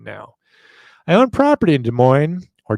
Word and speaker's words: Des Moines: I own property in Des Moines, or Des Moines. I don't pronounce the S in Des, though. It must be an oddball thing. All right, we'll call it Des Moines.